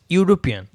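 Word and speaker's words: European: আচ্ছা ইউরোপিয়ান, ইউ, এখানে same Y ও ইউ, ইউরোপিয়ান, ওয়াই ও এরকম উচ্চারণ হচ্ছে।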